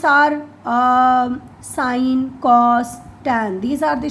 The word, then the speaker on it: sine: The complete spelling is SINE, but in short we use SIN. It is not sin, it is sine. It is read as, pronounced as sine.